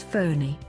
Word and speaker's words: Fani: just south of Puri the name Fanny which is pronounced as phony was suggested by Bangladesh